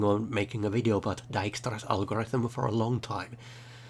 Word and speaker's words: Dijkstra: I think that's how it's pronounced. Dijkstra.